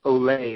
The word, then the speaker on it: Olave: Another name that has kind of bubbled up lately, a West Coast name, and I'm going to pronounce his last name as I was told, Chris Olave.